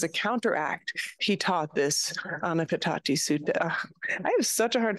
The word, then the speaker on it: Ānāpānasati Sutta: And so as a counteract, he taught this Ānāpānasati Sutta. I have such a hard time pronouncing this. I'm sorry, y'all. Let me say it correctly. Full awareness of breath. Ānāpānasati Sutta.